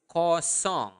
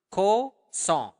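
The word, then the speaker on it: kosong: want to say zero zero is coong okay in basa say it again repeat it up to me Co song uh make sure that you are pronouncing the nassal sound there Co song song like a song okay so coong okay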